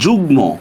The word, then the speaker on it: যুগ্ম: গ উ ন ল ম, গ উ ন ল ম এর সাথে প্লাস মফলার উচ্চারণ বহাল থাকে। উচ্চারণ বহাল থাকে। আচ্ছা যেহেতু উচ্চারণ বহাল থাকবে সেখানে কিন্তু আমরা চন্দ্রবিন্দু দিব না। যেহেতু মফলার উচ্চারণ বহাল থাকবে সেখানে কিন্তু আমরা কোনো চন্দ্রবিন্দু দিব না।